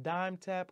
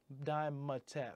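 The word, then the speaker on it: Dimetapp: Do you call it Dime Tap or Dima Tap? Dima Tap. Because it's not really spelled D-I-M-A. It's spelled D-I-M-E. Like the smallest nickel in the bunch.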